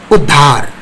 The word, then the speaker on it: उद्धार: त्यसै गरेर यस कवितामा आएको अर्को शब्द उ आधा द ध आकार र उद्धार, उद्धार, द पहिले ध पछि उद्धार।